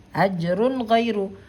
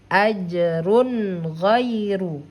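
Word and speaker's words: أجرٌ غيرُ: Nah, maka cara membaca tanwinnya ini harus dibaca jelas. Ingat, nun sukun atau tanwin bunyi suara N. Bunyi suara N-nya ini harus dibaca dengan bacaan yang jelas bunyi suara N-nya.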